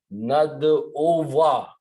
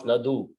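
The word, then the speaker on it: نَدْعُوَا: So this is lan nad ova. Make sure you pronounce, don't pronounce nadu. Nad ova.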